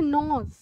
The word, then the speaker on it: nous: নজই বলে, নজ বল একই, অ্যাকচুয়ালি উচ্চারণগুলো ওরকম তো, থেলসকে থেলিস বলে, অনেক বইতে লেখা থাকবে। তো ওই নজ বলে, নাউস বলো, যাও বলো, ঠিক আছে, বোঝা গেলেই হবে।